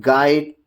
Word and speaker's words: guide: The letter U is not pronounced when it comes after G and before a vowel in a word. And then if you just look at guide, guest, guard, guess and gono.